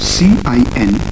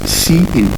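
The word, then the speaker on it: cin: see what they are number one we have c i n which is pronounced as c in so we call this as c in and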